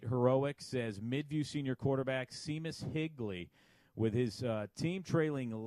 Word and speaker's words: Seamus: Favorite name, although it's pronounced Seamus, not Seamus. Oh, well, kind of like my name is Sean with S-E-A-N. Same thing. Oh, I would have never knew It's an that. It's the correct Irish way of saying it, Rob.